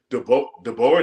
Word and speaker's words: DeBoer: I think DeBoer, that's how you pronounce his last name.